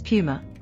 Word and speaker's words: Puma: It's actually Puma, not Puma. Come on. Now you're just messing with me. Nope. British and American pronunciations differ, but the correct one is Puma.